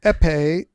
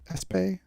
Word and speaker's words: épée: Like, because you would pronounce it, the S wouldn't be pronounced, and then someone would hear it and write it out without the S in it or something, right? Yeah. In Old French to Modern French, the S just disappeared somehow.